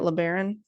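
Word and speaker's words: LeBaron: Chrysler learon is that how you say it learon yeah that's how you say it okay pulled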